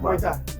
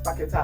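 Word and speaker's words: Paquetá: Yeah, I it's confused not Paqueta, it's Paqueta. Who said And I'm Paqueta? just trying, it's Lucas Paqueta.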